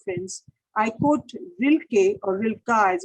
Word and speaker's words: Rilke: most worthy of friends, I quote Rilke, or Rilke as it's pronounced, one of Neelabh's favorite poets.